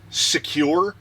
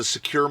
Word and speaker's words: Sequre: So what it is I've been pronouncing it Sequre. I wouldn't know how else to say it.